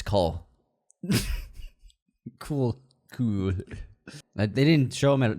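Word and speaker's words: Knull: K-N-U-L-L. K-N-U-L-L. No, U-L-L, not O-U-L-L. It's a silent N, it's Cole.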